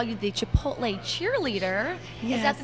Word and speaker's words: Chipotle: It's Chipotle. Chipotle.